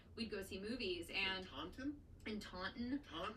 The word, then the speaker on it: Taunton: And Taunton? in Taunton, Taunton? I mean it's Taunton, Sounds like so like Tauntaun, like I know the it does.